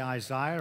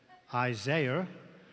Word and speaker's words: Isaiah: We Brits say Isaiah. I think you say Isaiah. So it is not two people. He was not schizophrenic. You might be wondering if I am, but we do say Isaiah, so please forgive me for that.